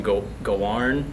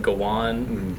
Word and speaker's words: Gawain: It sounds like he calls him Gawarn, and then I was like, that's how they're gonna call him. But then someone else said Gawain, and so that Gawain is how you pronounce his name.